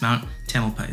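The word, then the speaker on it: Mount Tamalpais: to say it but i looked it up and it's mount tamilpais so if you guys were curious that's how it sounds but honestly i really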